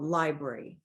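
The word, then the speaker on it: LBRY: got a companion site called Library it's spelled l b r y and so that organization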